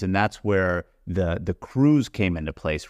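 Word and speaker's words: krewe: that's where the the crews came into place right and by crew it's spelled k we but there are a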